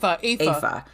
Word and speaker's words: Aoife: And you said, I think you said Effie or Effa? Effie, yep. Mm-hmm, okay, so the wedding night is chapter 1. Effie is... Or Aoife is chapter 2.